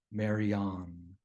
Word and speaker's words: Maryanne: years older than me her name was Maryanne which she pronounced Maran her grandfather immigrated to